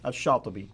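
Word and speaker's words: شاطبي: Now, how would you pronounce his name? Shatibi.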